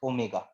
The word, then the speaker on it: omega: represented by omega this we pronounce it as omega this we don't call it it has w we call it as omega and now on the